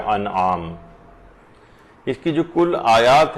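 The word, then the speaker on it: أنعام: وہ یہ ہے کہ لوگ اسے سورہ انعام پڑھتے ہیں، جبکہ یہ ہے سورہ انعام، یہ زیر کے ساتھ نہیں ہے بلکہ یہ زبر کے ساتھ ہے، تو اس کا صحیح تلفظ ہوگا سورہ انعام۔ اس کی جو کل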